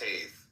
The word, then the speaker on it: Teth: Comment on Teth, T-E-T-H, pronounced Taith, transcribed as T, the number 9, meaning serpent, the intelligence of the secret of all spiritual activities.